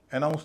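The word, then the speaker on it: announce: NOUNCE पर stress है। NOUNCE को तो वैसे ही बोला जाएगा जैसे कि ऐसे शब्दों को बोला जाता है। ROUND round, POUND pound, OUNCE आउंस। तो यहाँ पर उसका उच्चारण आउट होगा, नाउंस। लेकिन AN का उच्चारण क्या होगा? AN का उच्चारण हल्का होगा। हल्का का मतलब अ। तो यहाँ ए का उच्चारण ए या ए ना होके अ हो जाएगा। इसको बोला जाएगा अनाउंस।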